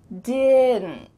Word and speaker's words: didn't: The N is going to be pronounced but my tongue is at the top of my mouth because I need to form that T sound without any air passing through. Didn't.